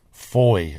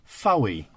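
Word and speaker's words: Fowey: Now, when visitors say the name, they often say Fowy. They do. And is that correct? I would say it's traditionally incorrect, but technically correct.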